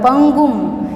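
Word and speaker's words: पङ्गुम्: यहाँ पर पंगुम, यहाँ पर ड जैसा है, इसका प्रोनाउंसिएशन नहीं होगा। ये शब्द हमें बोलना है और अनुस्वार है इसलिए प्रोनाउंसिएशन होगा पंगुम।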